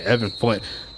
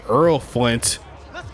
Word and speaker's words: Earl Flint: Checking the return is I'm saying Evan Flint. Is going to be Earl Flint taking that one to the 19-yard line, so not a great return. Maybe that was because I mispronounced his name.